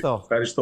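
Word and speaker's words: ευχαριστώ: Did I say it right? Thank you in Greek. Efcharisto, yes, thank you. Efcharisto.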